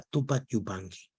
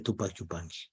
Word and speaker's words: Túpac Yupanqui: colegio y de repente el alumno se apellidaba túpac yupanqui al pronunciar ese apellido escuchó risas mufa de la pronunciación de túpachupán cómo puede ser que un apellido que significa